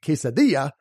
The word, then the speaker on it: quesadilla: of pronunciation is that when you see two L's together it makes the Y sound you already know this with a pair of culinary Essentials the quesadilla and Pollo the humor